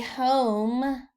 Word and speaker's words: home: i would build a home a home and notice it's the long o and there's that silent e making the o say the long o sound its name home h-o-m-e for f-o-r